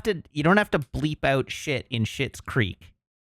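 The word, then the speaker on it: Schitt's Creek: Chip Cat, you don't have to bleep out shit in Shit's Creek. It's not spelled like a curse word. It's SCHITTS. It's said like it.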